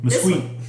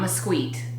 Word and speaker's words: Mesquite: Mesquite. It is not mesquite. It's mesquite. Like the wood, mesquite.